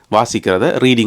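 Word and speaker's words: Reading: ஆட்கள் விழுந்து விழுந்து சிரிப்பினம் அது ரீடிங் கிடையாது ரெடிங் ரெடிங் அதுல உள்ள ஏ தூக்கிரனும் ஏ எடுத்து போட்டு ரெட்டிங் என்று சொல்லணுமாம் என்ன இது எழுதுறது ரீடிங் என்று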